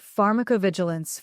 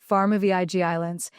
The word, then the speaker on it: pharmacovigilance: He mispronounced pharmacovigilance for 2 months, pharma v i g islands, emphasis on the wrong syllable, said with complete authority.